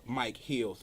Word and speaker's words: Micheals: A lot of people spell it with the A before the E, but it's actually, if you look at my name, it's actually Mike Heals, because I've always had